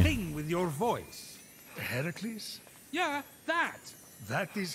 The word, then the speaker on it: Heracles: doing here sparkly thing with your voice the heracles yeah that that is how it's supposed to be pronounced seems like a lot of work but